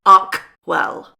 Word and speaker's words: Archewell: Sorry, I have to pronounce it correctly. Archewell.